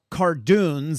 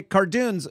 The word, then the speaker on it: cardoons: right well let's talk a little bit about cartoons am i pronouncing that correctly that's right okay cartoons so clearly we know that the central coast